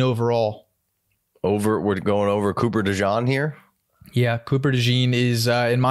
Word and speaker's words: DeJean: How'd you pronounce Cooper it? DeJean.